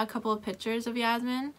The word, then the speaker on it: Yasmin: couple of pictures of yasmin i keep wanting to pronounce her name yasmine i don't know why but i do you always had like